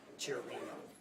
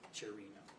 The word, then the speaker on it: Chiorino: Could you pronounce his first and last name again so we have the correct pronunciation? Philip Chiorino. Philip Chiorino, okay. Yeah, Chiorino is his last name, Chiorino.